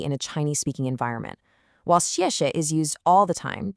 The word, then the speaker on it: 谢谢: The first syllable is a sharp, falling fourth tone. Think of a decisive downward chop with your voice. 谢. The second syllable is what we call a neutral tone. That means it's unstressed, it's short, it's light, so it flows 谢谢.